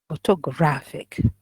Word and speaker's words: photographic: The third syllable is graph. Photographic, okay, four syllables, and the stress is on the third.